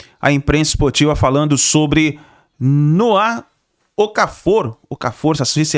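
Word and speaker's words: Noah Okafor: A gente viu aí a imprensa esportiva falando sobre Noá Ocafor. pouca força. Suíço, é assim que se pronuncia o nome dele, o jogador suíço que atualmente estava jogando no Napoli, emprestado, né, pelo Milan.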